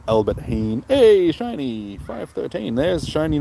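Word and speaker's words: Albert Heijn: Pronounced Albert Heen.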